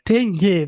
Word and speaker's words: dengue: Bacanya dengue, teman-teman.